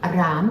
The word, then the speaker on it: рам: намах семенная мантра а ом рам произносится с Долгим а хороши также мантра шивы